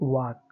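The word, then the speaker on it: walk: तो क्या हो जाएगा, TAK टॉक, WAK वाक।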